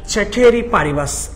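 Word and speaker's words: ceteris paribus: এটাকে বলা হয় চেটেরি পারিবাস, চেটেরিস পারিবাস, মনে রাখবা, এটাকে বলা হয় চেটেরিস পারিবাস।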